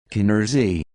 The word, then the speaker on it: Canarsie: let me know so I looked it up Keener's II Keener's ii Canarsie is an area comprised mainly